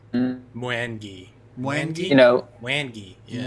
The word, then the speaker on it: Mwangi: Pronounced Mwangi.